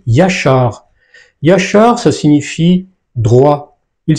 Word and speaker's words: ישר: Lorsqu'on lit ces trois lettres, qu'est-ce qu'on lit ? On lit Yachar.